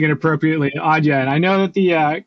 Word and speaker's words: Adyen: I I always pronounce it Adyen. But thank you for pronouncing it appropriately, Audya.